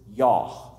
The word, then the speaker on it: Yah: consonants of YH W the first syllable is yah it's the same in the word hallelu it's an abbreviation a nickname